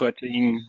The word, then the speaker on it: Roetting: So our third final speaker for this session is Tobias Roetting. Is that, have I pronounced it correctly? Yeah, close enough. It's Roetting in Germany, but it's close enough.